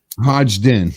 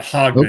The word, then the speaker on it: Hodgdon: Hodgdon. Okay. Don't pronounce the first D. The first D is silent, basically. Yeah. It's not Hodgdon.